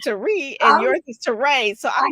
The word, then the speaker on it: Terre: So I'm going to say it's Terré, not Terre.